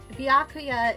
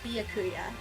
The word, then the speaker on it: Byakuya: But the entire time I've just pronounced it as like Bakuya.